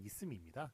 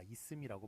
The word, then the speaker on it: 있음: 예, 발음은 물론 있음입니다. 예, 뒤에 이제 연음이 되니까 있음이라고 발음이 됩니다만, 예, 그래서 발음 때문에